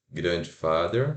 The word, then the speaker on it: grandfather: Não é o grandfather, é o grandfather, é o grand que é o sílaba tônica.